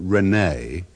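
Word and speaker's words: René: 17th century philosopher and even though the French pronounce it Renee it was still one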